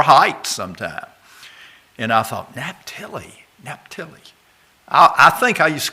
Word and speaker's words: Naphtali: Naphtali. I didn't used to pronounce it that way, but in my Bible